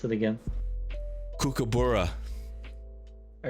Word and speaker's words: kookaburra: to pronounce it again kookaburra all right do you want me to like show you how to nah all right he had the first part right so it's like cooking so like cook and